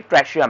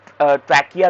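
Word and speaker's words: trachea: ठीक है, इसको ट्रैकिया भी बोलते हैं, कुछ टीचर इसको ट्रैकिया बोलेगी, कुछ ट्रैशिया बोलेगी। वो प्रोनाउंसिएशन आप देख लेना बेटा कि कौन सी आपकी टीचर बोल रही है।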